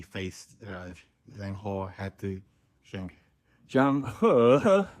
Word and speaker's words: Zhang He: Zhang He, it's okay. It's he, but it's pronounced her. Okay. Jane He had, I found it